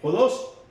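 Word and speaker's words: ὁδός: Y resulta que encontré que la palabra camino es lo que ustedes ven ahí, así se escribe en griego, se lee Jodos, pero el diccionario de términos bíblicos Strong lo traduce de la siguiente manera: camino o carretera.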